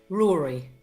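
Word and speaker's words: Ruairi: The Irish pronunciation right. of this name is Rory. Right. So it's Rory.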